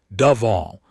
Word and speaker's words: Duvall: The drossari pronunciation dove all with a click between syllables that sounded like the snap of a pen cap.